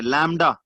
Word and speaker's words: lambda: बी इसमें silent है, लैम्डा।